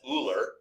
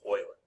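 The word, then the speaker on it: Euler: Okay, E was founder or was was found by um Leonard Oiler. Now, you may say to yourself, well, that's Ooler. Okay, but it's actually pronounced Oiler.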